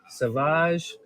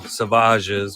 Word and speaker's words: Savage: I mean, you can't have Maul without a couple Savages, which I'm still kind of sad that you pronounce his name Savage instead of just Savage, because that's way cooler in my eyes.